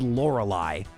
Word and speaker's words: Lorelei: Like seriously, when I was first corrected, I was like shocked. Like I had never even considered it was Lorelei.